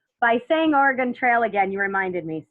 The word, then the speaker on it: Oregon: the country I think we tend to pronounce it incorrectly so if an Oregonian has not corrected you I was very nice in letting you know it's Oregon Oregon I've only been there